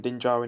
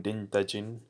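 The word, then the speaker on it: Din Djarin: really realize that yeah I should call him din jarin instead of I always call him ding dajin or just the Mandalorian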